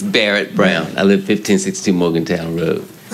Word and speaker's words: Barrett Brown: Burnett Brown, am I pronouncing that correctly? Not quite, but that's close enough. Correct. Please correct me. It's Barrett Brown.